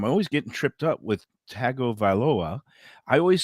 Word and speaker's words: Tagovailoa: of shocked us because there is no uh n i mean there's no g in there right no and uh you know he pronounced it like tangaveloa it's tango vailoa yeah so like some names have silent letters but this one has an invisible letter there's an invisible visible